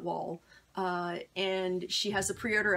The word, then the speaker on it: Wol: an MSD sculpt and it's WOM WOL so I'm pronounce that wall and she has a